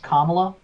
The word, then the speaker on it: Kamala: uh kamal harris and apparently her name is pronounced kamala but i was pronounced at kamala because kamala khan but whatever um elizabeth warren